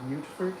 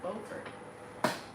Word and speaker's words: Beaufort: Ufert? But now Utfert? I'm remembering. See, don't say it like that. It's Beaufort.